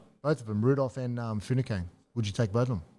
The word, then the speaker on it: Finucane: Both of them, Rudolph and Funacane. Would you take both of them? Dale Finucane. Funacane? Funacane? How do you pronounce it? Say where you Dale pronounce it. Finucane.